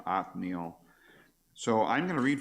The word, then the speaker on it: Othniel: Lion of God and the Hebrew pronunciation is atniel so they don't have a th sound there like we do othniel so I'm going to